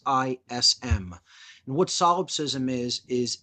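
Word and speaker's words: solipsism: termed the biggest lie is something known as salopsism. And I'll spell that for the listeners so they can go out and look this up and learn more about this very dangerous ideology. It's called salopsism.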